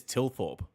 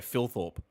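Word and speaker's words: Thilthorpe: He says Tilthorp, but when you listen to some of the com commentators, they pronounce it like there's an F at the start of his name. They go Phil Thorp. Where's the F? How'd they even come to that conclusion?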